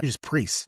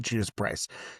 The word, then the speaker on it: Judas Priest: It really has this Judas Prize vi uh Judas Priest, not Judas Price.